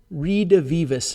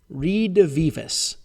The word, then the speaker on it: redivivus: There's a thing called the Nero redivivus myth. Redivivus. Here's how you spell it.